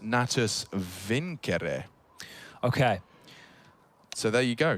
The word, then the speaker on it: Natus Vincere: navi's full name and want to say it correctly as in the latin uh it's actually pronounced nattus vincere okay so there you